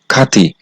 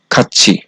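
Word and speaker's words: 같이: মাছি এরপরে হচ্ছে খাচ্ছি এই খাচ্ছি শব্দের নিচে বাচ্চিমে আছে থিউত আর এই থিউত বাচ্চিমের পরে আছে স্বরবর্ণ ই শব্দটার উচ্চারণ হওয়ার কথা ছিল খাতি কিন্তু বাচ্চিমের রুলস অনুযায়ী যেহেতু বাচ্চিমে আছে যে তিউত বাচ্চিমের উপরে স্বরবর্ণ ই আসলে এই তিউত সমান ছিউত উচ্চারিত হবে এজন্য তিউত টাকে ছিউত পড়তে হবে যার কারণে এই শব্দটার সঠিক উচ্চারণ হবে খাচ্ছি এরপরে হচ্ছে 14 নম্বর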